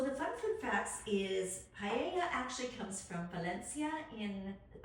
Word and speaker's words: paella: If you said it phonetically, it would paella. It's paella.